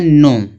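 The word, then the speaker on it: know: यहाँ दिया है नो।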